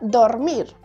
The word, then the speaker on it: dormir: o vocal por ejemplo la palabra dormir es aguda porque se acentúa en la última sílaba si no sería dormir y ahí sería grave pero es aguda porque lleva la mayor intensidad en mir no lleva tilde porque